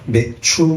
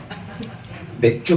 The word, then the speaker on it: 맥추: 어 오늘은 어 맥추 감사 주일입니다 발음을 제대로 해야 되겠죠 그렇죠 맥주 감사 주의하면 또 술 드시는 분들은 아주 감사하는 날이죠 그런데 원어 상에 보면